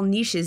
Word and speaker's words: niche: dependent on the ecological niches they occupy wait nich Niche fun fact both pronunciations are correct and I hate the English language but anyways an ecological